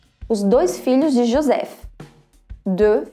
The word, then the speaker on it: deux: O X no final não é pronunciado.